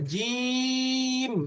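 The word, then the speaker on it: جيم: এরপরে জিম, এই যে জিম উচ্চারণ করার সময় একটু বেশি টানতে হবে, অর্থাৎ 3 আলিফ টানতে হবে।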